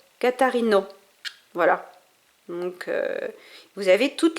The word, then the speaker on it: Catarina: Voilà, par exemple le A à la fin d'un mot se lit comme O ouvert de robe. Catarino.